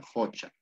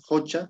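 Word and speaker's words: qocha: estancada pozo no sé Laguna jocha con q Ya ves por eso Acá hay dos jocha jocha se escribe Así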